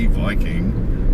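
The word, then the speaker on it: バイキング: So in Japan it's Viking, which of course, if they write in Romaji, is V-I-K-I-N-G, Viking, but in Japanese it's Viking.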